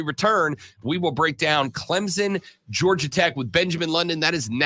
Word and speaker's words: Clemson: Clemson. Clemson with a P in it.